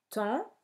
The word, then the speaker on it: temps: Temps, le P et le S sont muets, compter, le P est muet, et femme, comme on l'a déjà vu, se dit femme et non pas fame.